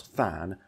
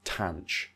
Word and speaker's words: tanh: uh you might pronounced you might pronounce thanan as tan now I prefer shine Kosh thanan but I understand if you want to use cinch Kosh tan I get it so it's really there